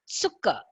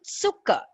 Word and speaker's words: Zucker: you have Z, it's Zucker. Zucker means sugar. Okay, Zucker. We write it with a Z, Z or a Z in English, but we say Zucker.